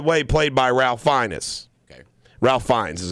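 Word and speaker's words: Ralph Fiennes: played by ralphinus okay ralph finds how he pronounced his name ralph finds yeah okay so he's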